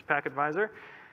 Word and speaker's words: pktvisor: today i'm talking about pack advisor let's pronounce pac advisor the talk is deep